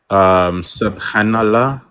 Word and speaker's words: subhanallah: I have learned a couple of words in Arabic, like inshallah, mashallah, bismillah, and I just learned subhanallah.